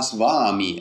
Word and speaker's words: svami: I ed è sbagliato non si scrive s in sanscrito non c'è la W c'è la v e la v e la a insieme fanno un suono che è vicino a vaa vaa quello che un inglese